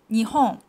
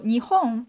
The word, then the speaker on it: Nihon: characters means Japan but it's called Nihon so so the the Chinese character you can see right now uh pronounced me um and there's another pronunciations for Japan in Japanese it's Nippon so Japan has two pronunciations only for Japan in Japanese so nihong and Nippon and the next one